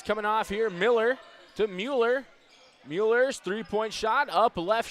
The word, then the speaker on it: Mueller: in front of me helping me on that pronunciation of Mueller after saying Müller there in the first half so always enjoy getting